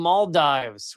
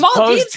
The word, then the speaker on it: Maldives: Muhammad Wahed Hassan, a former president of the Mald Dives, resigned his No, mispronouncing everything I told you. The Maldives didn't do anything wrong.